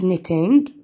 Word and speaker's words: knitting: In picture three, Auntie Ilia is knitting. طبعا الكي لا تلفظ.